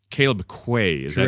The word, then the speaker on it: Quaye: time but this is Mr Caleb it's Caleb Quay is that correct okay just want to make